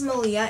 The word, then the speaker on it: Maliha: So my name is Malia. It's spelled M-A-L-I-H-A, and it is really from Arabic descent. People think it's like Spanish, since some people pronounce the H silent, blah blah blah, but it's from Arabic descent.